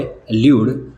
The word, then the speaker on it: elude: एल्यूड, दोनों words के pronunciation same है। पहला जो वर्ड है एल्यूड, जिसका स्पेलिंग है ELUDE, जिसकी मीनिंग्स है टलना, बचना।